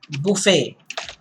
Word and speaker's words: buffet: The other word that comes to my mind apart from this is buffet, where there's self-service.